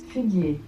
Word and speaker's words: figuier: In French it's figuier.